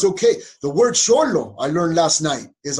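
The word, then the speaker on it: xolo: okay to be indian it's okay the word sholo i learned last night is on now one word it's x-o-l-o because x is pronounced i learned last night according to one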